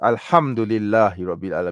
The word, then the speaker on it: alhamdulillah: might change okay so it's alhamdulillah not alhamdulillah I don't change it right okay not not